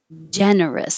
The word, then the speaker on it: generous: this an us or you can make it an is it doesn't matter generous generous it's not stress so no matter what if you see the ous don't say oh sir make it two parts just keep it us or is that so generous of